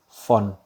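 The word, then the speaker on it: von: ditemukan ya atau dibuat oleh Mr ini dia font ya ini dibacanya font awalnya gue juga bacanya lainnya kayak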